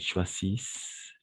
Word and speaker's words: choisissent: à la fin, qu'ils choisissent. D'accord? Choisissent, voilà. Excellent. Que nous choisissions. Oui, c'est un peu difficile. Choisissez. Voilà. Qu'il ou qu'elle choisissent. Parce que ENT à la fin, on ne prononce jamais.